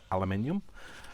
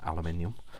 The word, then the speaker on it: aluminium: in the world but in the uk i we say aluminium um which i know that you know some people find great entertainment from the fact that we say it like that but we do um so i'll say it again aluminium um and it can you